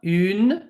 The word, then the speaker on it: une: This one, une. We have an U sound, like in the word tu.